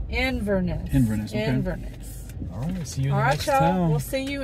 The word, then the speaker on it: Inverness: my God that's it that's it for what iverness Inverness Inverness Inverness we'll see you in Isola